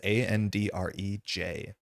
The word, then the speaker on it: Andrej: Andre, I live in French Canada, but I'm not French. I don't have a French name. So my name is Andrej.